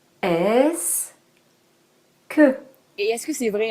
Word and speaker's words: est-ce que: de la conjonction que on le prononce en deux syllabes est-ce que et est-ce que c'est